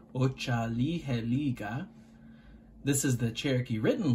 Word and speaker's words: Otsaliheliga: This is phonetically, which means just the sounds of the word laid out, Otsaliheliga.